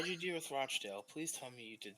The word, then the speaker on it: Rochdale: I started at Dorking then went to Rockdale then Fiorentina for five or six years don't say their name wrong no Rochdale oh sorry just because they suck doesn't mean